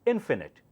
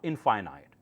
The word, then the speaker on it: infinite: the next one here it's pronounced as infinite not infinite infinite so that's not conf